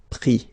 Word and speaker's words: pris: Mettre, mi, and then ENDRE, ES, but then same thing here, the sound I. Prendre, pris. okay?